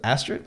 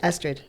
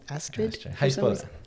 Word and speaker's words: Astrid: favor and please introduce yourself i am um astrid i'm 30. i like long walks on the beach okay cool so you say your name was astrid astrid that's my first name but a lot of